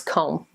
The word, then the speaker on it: comb: three come here's another one how do you pronounce it it looks like combi no it's comb comb a long oh and the bee is